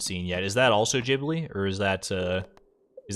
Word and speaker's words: Ghibli: in my head now I think it's pronounced Ghibli it's like it's like gif thank you blade thank